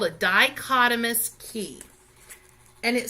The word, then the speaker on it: dichotomous: called a dichotomous key that H is silent there so it's called a dichotomous key and it says